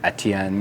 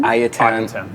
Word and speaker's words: Ayatan: The Etienne. Ayatan? Ayatan.